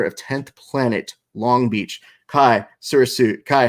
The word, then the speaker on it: Chai: It's Chai.